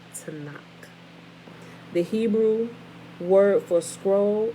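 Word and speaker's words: תנ״ך: acronym Tanakh, TNK, or you add the A's in there to pronounce it properly. For those of us who only understand English, TANA. Adding the A's gives you the proper sound of this word, right?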